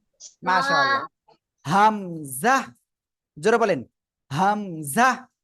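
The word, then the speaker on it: همزة: মাশাল্লাহ হামজাহ জোরে বলেন হামজাহ কোন টান হবে না জোরে হামজাহ হামজাহ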